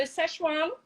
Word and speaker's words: Szechuan: So Szechuan actually comes from, so it probably, people might see that sometimes it's spelt S-I-C-H, which is actually the province that it comes from. But the actual peppers is S-Z-E-C-H-U-A-N.